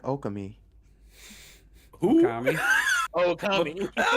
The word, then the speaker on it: Okami: It might eventually look like Okami. Who? Okami. Oh, Okami. I was like, Okami. Okami. That was the weirdest pronunciation of that word ever.